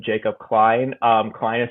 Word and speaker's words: Cline: It's just my name, Jacob Klene. Um, Klein is spelled C L I N E, by the way.